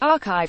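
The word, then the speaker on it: arXiv: arc Civ asteroth arcs have pronounced archive as if that X was a Greek she is in repository for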